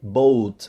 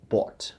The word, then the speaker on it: bought: the word by is bought, right? So we have bought a new lamp. Remember, you don't say boat.